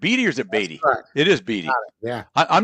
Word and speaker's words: Beattie: I mean, am I pronouncing that right? Beattie or is it Beattie? It is Beattie.